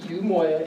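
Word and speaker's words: Umoiya: You pronounce it Yumoya and it's spelled U M O I Y A.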